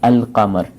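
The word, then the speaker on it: القمر: The other thing in qamar is lam is pronounced. So if after lam the words below, the huruf al-qamariya comes after lam, then lam is pronounced. It's called al-qamar.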